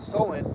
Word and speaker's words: Samhain: And he said that the original name is Samhain, that's how it's pronounced.